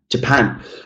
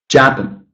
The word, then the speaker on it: Japan: If I actually stress the wrong syllable in this short word, trying to keep the pronunciation of the individual sounds the same, I would say Japan. It's really quite difficult to figure out what word I'm actually saying, right?